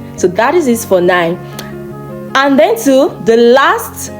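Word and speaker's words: neun: So when you come across EU in a German word, it is pronounced oi.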